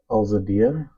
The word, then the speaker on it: Eladia: her say her name so I'm going to spell it so my so our followers can hear it correctly eladia yeah a LZ a i d yeahia there